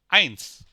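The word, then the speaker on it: eins: আই ই আই যদি একসাথে থাকে তখন এটা উচ্চারণ হবে আই ই আই যেমন আইনস আইনস মানে ওয়ান ই এ ই এ ফিয়ার ফিয়ার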